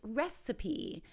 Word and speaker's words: recipe: recipe so weird right because that E is at the end of an English word that we're actually pronouncing it so it's recipe excuse me this is amazing do you have the recipe so a recipe is